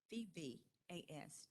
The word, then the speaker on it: Savvas: How do they pronounce that, Commissioner Linker? Savvas. Did you say that? Savas? Okay, Savas Learning Company.